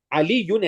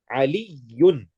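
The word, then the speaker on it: عَلِيٌّ: Aliyun has a shadda on the ya. So you can hear how I pronounce it. A shadda basically represents two of the same letters. Aliyun. Aliyun. These two yas that I'm pronouncing. So when you make waqf on it, you can't just say Ali. You must say Ali. You must hear that ya.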